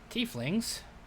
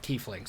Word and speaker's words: tiefling: d you're willing to make a hard stance on the pronunciation of t flings because i know some people want to pronounce it tie fling um a t fling pronounced tiefling yet and we'll talk about